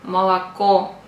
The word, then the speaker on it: молоко: pronounce Like A example молоко Milk so The Accent is On The Third oo so the First two O We have to pronounce Like a молоко If you pronounce like